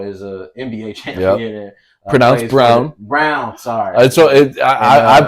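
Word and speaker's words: Braun: Bron who now is a NBA champ pronoun brown brown sorry I I pronounce it brown too so I place for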